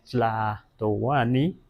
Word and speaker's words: Tlatoani: eso lo puse así, más bien en náhuatl se pronunciaría Tlatoani, Tlatoani, sin reverencia, Tlatoani,